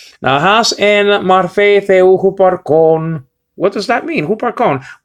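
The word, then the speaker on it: ὑπάρχων: But over here is spelled out, okay, upsilon with the rough reading, so you got hu, and then you got a p, so you got hoop. And then archon is spelled out alpha with the acute marker. That's where the accent is focused on.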